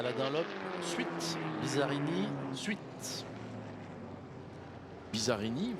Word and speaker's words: Bizzarrini: dunlop suite bizzarrini suite bizzarrini vous avez dit bizarre il est prononcé à la française karine et l'alcool alors